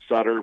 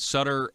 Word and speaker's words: Sutter: of a lot of people pronounce it stutter but I was pronouncing it Sutter the entire program until